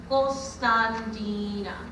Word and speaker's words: Constantina: i'm is years old in greek you pronounce my name gulstan dina but only my family